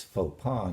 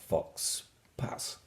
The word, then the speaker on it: faux pas: And you'll see that both the X and the S are silent, so it's faux pas, not fox pas.